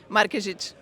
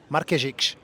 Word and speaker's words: Markezic: Tell me how to pronounce it. Markezic. Markezic.